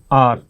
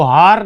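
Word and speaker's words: hour: और यहां पर आवर, इसको हार नहीं पढ़ने, आवर आवर, ठीक है, एच साइलेंट रहता है लगभग, इसलिए।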